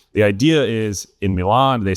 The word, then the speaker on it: Milan: We actually pronounced this Milin. So, we're going fancy today. We're going to Milan right now.